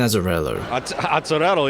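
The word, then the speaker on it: Azzarello: her with this guy Brian azarello yeah if you're Italian that's the way you would pronounce it his vision effectively stripped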